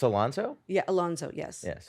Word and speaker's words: Alonso: um growing up they always said my last name wrong and everything it's Alonso yeah Alonso yes yes correct did I do